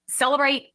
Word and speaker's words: Cellebrite: Celebrate updated physical analyzer based upon your research and what you learned in that.